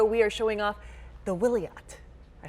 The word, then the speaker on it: Wiliot: in San Diego we are showing off the will yet I said it right yes you did joining